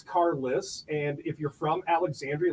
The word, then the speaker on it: Carlos: But but that is how it's pronounced if you're a local. Carless. If you're if you're a local, it's Cariss.